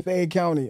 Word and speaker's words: Fayette County: you from man like you said help me pronounce it Fayette County Fayette County okay yeah like I know you told the